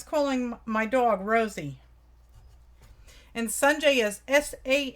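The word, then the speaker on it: Sanjay: my dog Rosie and sunjai is sa n J a Y and it is pronounced like the big ball of fire in the sky and J sunjai okay this here B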